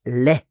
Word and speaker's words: les: Don't say the S, it's le.